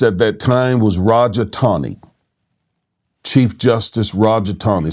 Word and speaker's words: Taney: The Chief Justice at that time was Roger Taney. Chief Justice Roger Taney. Some people pronounce his name Taney.